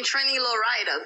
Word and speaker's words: Trini Lowrider: Trini. As in Trinidadian. Trini. Uh-huh. Low. As in go down low, low, low. Ride.